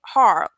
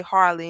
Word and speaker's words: Harle: And I used to say Harley, and someone corrected me. His is Harl. I'm from the country, so that E, the E is silent, but I'm gonna say Harley, but his name is Harl.